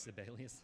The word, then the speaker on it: Sibelius: like some people use Sibelius, an Urbit Yeah. version of that, you can have that. oh, it's Sibelius. I was pronouncing it like syphilis.